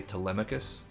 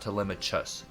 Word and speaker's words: Telemachus: Tom Holland playing, but we would say Telemachus, That's how we would pronounce this, but you know, everybody will say it different. It's not Telemachus, just so you know that it's not a ch for the ch.